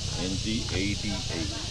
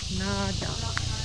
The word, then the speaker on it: Ngada: NGADA. Ngada. Nada. So the G is silent. Yeah. Nada. NG we pronounce Yes.